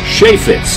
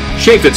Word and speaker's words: Chaifetz: people have trouble pronouncing Shea Fitz um sha Fitz is in shea butter fits as root beer sheay fits 5 years